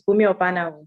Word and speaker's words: Bunmi Obanawu: A big thank you to Bunmi Obanawu. Is that how to pronounce it? Yes, you're very close. It's Bunmi Obanawu.